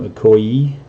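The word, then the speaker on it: Okoye: Black Panther look OE that is how you say your name Ocoee and black widow so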